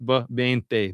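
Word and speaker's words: veinte: beginning of the word bente, for instance. And depending on what dialect you're speaking, it's going to be kind of a bb. It's a soft bente.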